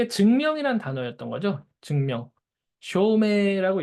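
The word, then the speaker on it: 証明: 쇼메라고 읽습니다. 메이라고 읽고요. 쇼메.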